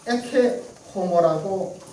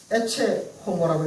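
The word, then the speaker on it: Ecce homo: 고전 라틴어로는 에케 호모라고 읽어야 하고, 근세 라틴어로는 에체 호모라고 읽어야 하고, 영어 사전 찾아보니까 익스 호모라고 읽어야 하고, 그 연수원의 박성환 목사님은 이치 호모라고 읽으시더라고요.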